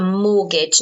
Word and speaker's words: mortgage: sometimes okay so a mortgage notice you don't pronounce the T okay and when you